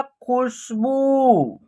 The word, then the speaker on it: खुशबू: देखिए ख में क्या है? छोटी ऊ की मात्रा है, तो इसका उच्चारण शॉर्ट तरीके से करेंगे। उसके बाद स और ब में क्या है? बड़ी ऊ की मात्रा है, तो इसका उच्चारण लॉन्ग तरीके से करेंगे, तो इसका उच्चारण होगा खुशबू।